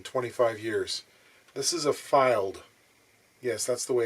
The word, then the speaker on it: Fylde: This is a Fylde. Yes, that's the way it's pronounced. Fylde, F Y L D E.